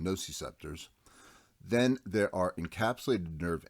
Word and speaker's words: nociceptors: representative of pain receptors also known as gnocchi scepters or i prefer the pronunciation nociceptors then there are encapsulated